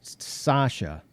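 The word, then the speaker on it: Sachse: the scen cut and it is pronounced it's pronounced sasha and it is this is the knife that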